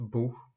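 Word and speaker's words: Buch: мови с буквосполучення цех вимовляється як ха після німецьких букв а о у напри наприклад Струмок де Бах книга das бух кухар das Кох і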